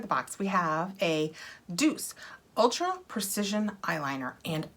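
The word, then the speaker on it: Doucce: ultra precision eyeliner and i looked this up because i would get these in boxes and i was never sure how to say it and it's d-o-u-c-c-e which i wanted to make italian like duche or i always i wanted to make it fancier than it was and when i looked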